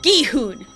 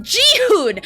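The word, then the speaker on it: Gi-hun: Like it's Guehune. Geehon. I can't tell you how many Tik Toks I have seen of people saying it. Jihun. That's a different name. His name is S Guune. Guehune. It's not that hard to pronounce gihun.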